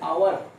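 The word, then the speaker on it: hour: एच ओ य आर इसे क लोग ववर पढ़ते है व ले व नहीं पना चाहिए य आवर या घंटा वाला आवर य साइलेंट है इसको हम क्या करेंगे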